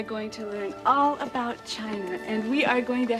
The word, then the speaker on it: Qin: the Great Wall of China was designed by the emperor Qin was a spur excusing I see more it is pronounced chin Thank You mr.